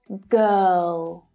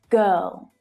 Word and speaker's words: girl: Now we need to move to the O sound. And we do that by lifting the tip of the tongue up so that it's behind the top teeth. Girl. Girl.